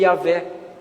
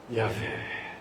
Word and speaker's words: Yahvé: Porque o ato de você fizer fazer isso assim, ó, ah, é a mesma pronúncia do nome Yahvé. Yahé.